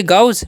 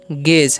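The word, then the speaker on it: gauge: इसे हम क्या पढ़ेंगे गाउज गाउज नहीं पढ़ेंगे इसे हम क्या पढ़ेंगे गेस क्या पढ़ेंगे इसे हम इसे हम पढ़ते हैं गेज है ना और ए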